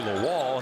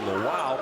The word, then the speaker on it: Lawal: who followed the Rams knew him as Toby lall he is Toby laow because that's the way he prefers the pronunciation and we're happy to oblig as well